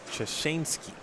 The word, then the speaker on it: Chashansky: With that said, his last name is pronounced according to our chat, Chashansky. Oh, okay. So I had it wrong.